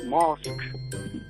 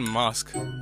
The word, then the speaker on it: Musk: they've now learned it's Elon Musk not mosque sorry John it's Elon who musk it's not Elon who musk have you been saying it it's not Elon Musk it's Elon Musk musk